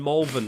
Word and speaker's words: Malvern: and Malvern, even though it's spelled Malvern.